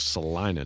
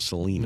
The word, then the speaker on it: Salina: We had eaten lunch in Salina, Kansas, which is the proper way to say it, by the way, for those of you who don't know. It's Salina, not Salina.